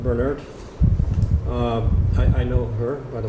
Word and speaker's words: Burnett: I think it's pronounced Bernert.